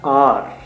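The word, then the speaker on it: hour: तो उनके लिए बेसिकली हम हार बोलते हैं हावर बोलते हैं बच्चे उसको मिस प्रोनाउंस कर जाते हैं ए यू आर होता है आर आर बोलते हैं बेसिकली तो अ जो साउंड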